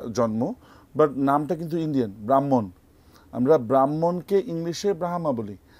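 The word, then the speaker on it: Brahman: বলে রবীন্দ্রনাথ টেগোর তো এই ডিফারেন্সটাই এটা আসলে ব্রাহ্মা না এটা হচ্ছে আমরা যদি আমরা যদি বাংলায় উচ্চারণ করি কিংবা ইন্ডিয়ান ভাষায় উচ্চারণ করি তাহলে কিন্তু এটা আসবে হচ্ছে ব্রাহ্মণ তো হচ্ছে ওরা ইচ্ছা করে এই নামকরণটা ইন্ডিয়ান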